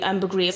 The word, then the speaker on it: ambergris: Ambergris, have I been saying it correctly? Ambergris, most people in Britain would call it ambergris.